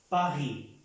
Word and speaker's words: Paris: Un ejemplo de je suis à Paris. Je suis à Paris. La S no se pronuncia en la palabra París.